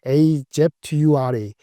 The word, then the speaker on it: Azure: 근데 클라우드 데이터 센터, 걔네는 상표명을 AZURE, Azure 발음을 하는데 Azure의 성장률이 무려 35%가 됐어요.